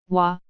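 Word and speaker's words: 와: romanization for this character is waa waa sounds like the waa on the word wand next is way the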